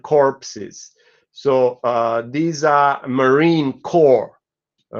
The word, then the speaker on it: corps: So these are marine core, all right, and marine corps. So these are troops. A corpse, spelled with an E at the end, is a dead body.